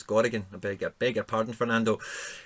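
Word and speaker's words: Gorriarán: I don't know why, but it kept coming up in mine as Garrigan, and I don't know why I had it spelled like that, but it's Gorrigan.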